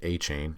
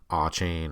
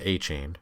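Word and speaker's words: De'Von Achane: Devon a chain and he pronounces it a chain in the video I've seen people all chain and all that you know it's it's a chain and it's Devon not Devin Devon a chain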